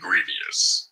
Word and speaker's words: Grevioux: last name is it uh it's actually Grievous oh griev oh I like Grievous yeah yeah yeah yeah yeah rhymes with previous oh I like griev